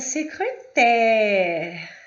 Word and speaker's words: secrétaire: Agora, na palavra secrétaire, secretária, eu vou pronunciar secrétaire, aberto, secrétaire, ok?